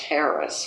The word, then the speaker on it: harass: Harass, which he always insisted be pronounced Harris, which I don't agree with, but I did it.